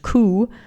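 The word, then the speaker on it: 九: The number 9 is almost as bad because it's pronounced ku, the same as the word for suffering.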